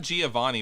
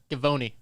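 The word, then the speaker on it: Givony: for his height yeah that's not giovanni by the way ty what is it g-i-v-o-n-y giovanni c i was not the only one with the hard g yeah gavoni oh so see i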